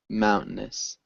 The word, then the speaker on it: mountainous: Be aware that we swallow this T sound. It's almost a silent T sound. I would say mountainous. It's a kind of tricky thing. So mountainous sounds fine too.